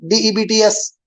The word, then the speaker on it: debts: D-E-B-T-S. Debts. See, B here is completely silent. We do not pronounce B here.